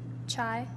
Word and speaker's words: chai: a cup of chai chai am I saying it right yes try can you give